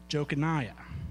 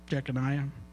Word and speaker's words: Jeconiah: In Joseph's genealogy, there is a man named Jochaniah. I believe that's how you pronounce it. Is that right, Derek? Jochaniah? Jeconiah.